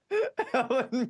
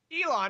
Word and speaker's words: Elon: Please tell me how you pronounce Elon fan cuz I definitely said Elon Musk, right? Ellen, right? Elon Degenerous. I said Ellen, didn't I? You said Ellen. Elon.